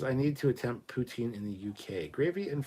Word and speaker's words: poutine: anyway yay poutine Canadian I said it's actually pronounced you're French the Putin it's poutine I don't care it's not